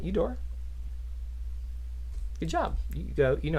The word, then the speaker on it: Eudora: Eudora. Good job. You know how to pronounce things.